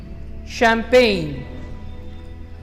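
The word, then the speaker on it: champagne: शैम्पेन, जो CH है यहाँ पे वर्ड के स्टार्टिंग में वो यहाँ पे श साउंड प्रोड्यूस कर रहा है। जो हमारी टेंडेंसी होती है आमतौर पर कि CH को हम लोग या तो च साउंड में कन्वर्ट करते हैं या फिर ख साउंड में, बट यहाँ पे जो CH जो कॉम्बिनेशन है इन लेटर्स का इट इज प्रोड्यूसिंग श साउंड, शैम्पेन।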